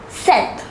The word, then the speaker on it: sept: The number 7 is pronounced as sept.